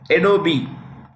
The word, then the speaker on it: Adobe: chairperson of chairman of adobe the E is pronounced it's Adobe Adobe Systems